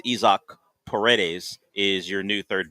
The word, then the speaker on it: Isaac: hope that isach which we'll have to figure out how to pronounce consistently CU I know reads Isaac yeah but it is ISO Peres is your new